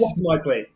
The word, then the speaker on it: Optimizely: You pronounce the name of your old company, Optimize. Optimizely.